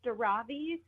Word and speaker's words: Daravi: I put the emphasis on the second syllable in your last name. Is it Daravi or is it Daravi? You're not wrong either way. So okay. It's Daravi.